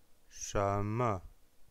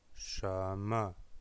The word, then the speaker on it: 什么: Sheme, sheme, c'est un 2e ton suivi d'une syllabe non accentuée. Sheme, che, donc che, le 2e ton, le ton montant, sheme, et puis le ton non accentué pour la syllabe me.